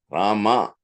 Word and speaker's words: Rama: So happy celebrating Ram day Today Rama is a num just two syllables rama but it has the power to completely transform your life if you chant it.